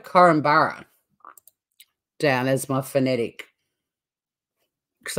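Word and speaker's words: Korumburra: it down I wrote well actually I wrote coromborough that was the pronunciation one of the locals said in one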